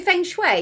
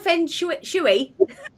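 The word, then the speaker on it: feng shui: Do you do fenue? Is it fenue? Is that how you say it? Fenu. Is it called? Fenu shuy.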